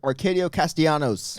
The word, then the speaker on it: Arcadio Castellanos: Was Cody knows how to say his name. Let me see. It's Arcadio Castellanos. Ooh. Nailed it.